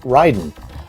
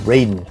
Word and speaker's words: Raiden: forth during this as I now know it's pronounced Ryden but I've said Raiden for 30 years Ryden which means god of